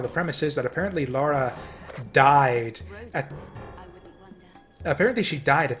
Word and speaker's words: Lara: uh like right after Laura's uh or Lara apparently it's Lara not Laura which is whatever I've